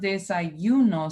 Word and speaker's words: desayuno: but this is pronounced desayuno. So it's like you're hearing the Y twice because it's making this I, but then you're hearing U instead of U.